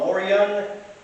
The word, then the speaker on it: Morion: The helmet I'm wearing right now is called a Morion helmet. I believe that's the correct pronunciation.